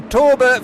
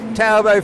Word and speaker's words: Talbot: Mark Poulsen and his Tolbo, if that's correct pronunciation. It's a Torbo for a London Torbo, it's Talbot for a French Talbot, so it depends which one you're talking about, really.